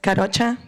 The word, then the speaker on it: Karocha: and city council members my name is karocha that's how you pronounce it I know it's hard